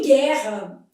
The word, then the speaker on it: guerra: Em guerra, esse U não é pronunciado. Então isso aqui forma um dígrafo. E aqui os dois Rs tem um som só.